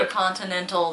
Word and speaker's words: Intercontinental: Intercontinental. There are 3 T's. You have to pronounce them all.